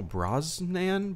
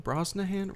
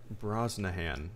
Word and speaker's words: Brosnahan: me of a so it was a Rachel Brosnan Brosnahan Rachel Brosnahan okay I guess that's how you pronounce that I don't think I've ever heard